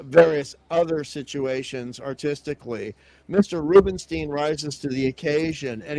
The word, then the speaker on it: Rubinstein: a massive fan of Joe Rubinstein sometimes pronounced Rubenstein I think that Rubenstein